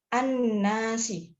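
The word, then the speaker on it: النَّاسِ: Kenapa disebut asam Syiah karena ada Arif lam atau air bertemu dengan Nun eh al-islamiyah atau awalnya dileburkan ke huruf Syamsiah cara membacanya annasi annasi selanjutnya attajiru dikarenakan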